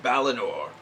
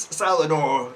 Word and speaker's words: Balinor: Two of them surrendered peacefully, and they promised to be good and kindly and serve Balinor. Unfortunately, they mispronounced their name, Balinor's name, as Salinor, and they deserve to die.